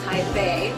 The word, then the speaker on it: Taipei: For an adventure and something cool to do during the day here in Taipei, or Taipei, as the locals say, take a gondola ride.